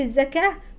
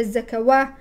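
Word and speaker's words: الزكاة: الصاد الصلاه ويؤتوا الزكاه الواو في الصلاه والواو في الزكاه يكتب لكنه لا ينطق هكذا تكتبها العرب لكنها لا تنطقها لا تقول الصلوات ولا الزكواه انما فوقها الف صغيره فتعرفي انها الف ليست واو وذلك دين القيم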